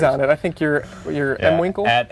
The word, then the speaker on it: mwinkle: I think you're M Winkle. At M Winkle, MWINKLE. Winkle. I pronounce it Mwinkle. Just like that.